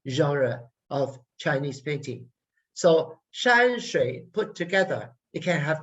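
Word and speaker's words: 山水: Shan, shui. And when I get to that shui, I come down, I lower my head.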